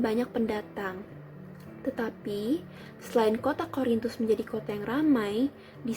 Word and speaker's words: Korintus: Korintus bacanya K O R I N T U S.